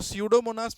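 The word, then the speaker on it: Pseudomonas: तो स्यूडोमोनास में P silent होता है और एस, तो अब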